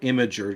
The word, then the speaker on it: Imgur: I'm browsing Imager to those of you who have to go with the correct pronunciation according to the company.